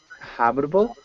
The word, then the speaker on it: habitable: nice okay one word habitable habitable pronounce the h good um and then